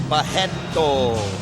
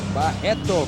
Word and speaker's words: Barreto: And the R's in Brazil you pronounce as H, so you will say Barreto. Barreto.